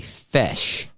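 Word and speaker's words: feis: is what's called a fesh. Phonetically, you would say it would be like f e s h, fesh, but it's spelled f i, excuse me, f e i s.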